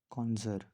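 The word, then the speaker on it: connoisseur: Next है कॉन्जर। ये जो वर्ड है इसको प्रोनाउंस करते हैं कॉन्जर, लेकिन अगर हमें इसके स्पेलिंग को याद करना होगा तो हम इसको पढ़ सकते हैं कॉनॉइजियर।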